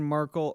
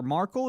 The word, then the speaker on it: Markle: talking about uh Meghan Markle or Markle is it Marco I read an article which rhymes with sparkle yanny okay Prime Sparkle